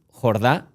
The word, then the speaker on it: Jordà: Jordá. He pronunciado bien el apellido. Bueno, técnicamente sería Jurdá, pero está bien. Lo digo. Jurda.